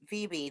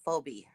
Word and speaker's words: Phoebe: Dear, it's pronounced Phoebe, not Phobe.